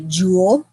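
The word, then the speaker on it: joule: a j for a jewel so you pronounce it like a jewelry Jewel but spell a little different Force symbol for force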